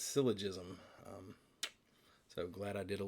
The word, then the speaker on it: syllogism: I was calling it syllogism, but it's syllogism.